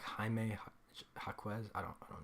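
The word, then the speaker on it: Jaime: it's Hae haime right it's not Jamie it's like haime HZ I don't I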